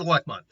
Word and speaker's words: Elecmon: So the first up for his partner is Violet Elecmon, specifically Violet Elecmon, or Lekimon, I believe that's his actual pronunciation. No, it's just Elecmon.